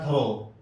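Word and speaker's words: through: اسی طرح تھرو، تھرو، ٹی ایچ تھا، تھرو.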